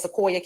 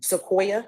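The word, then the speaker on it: Seqoia: also has a daughter by the name of sooya Cade what's your name Sequoya how do you spell that weever s e q o i a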